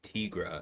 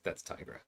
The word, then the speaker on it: Tigra: careful about that because apparently it's supposed to be Tigra and that just bothers me because I think it's like a white woman Uh, from Minnesota or something and I'm like, nah, that's Tigra.